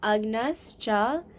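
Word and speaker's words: अज्ञश्च: So, don't you don't like actually pronounce the J. The J becomes like kind of like a G sound. So, it'd be like agnascha.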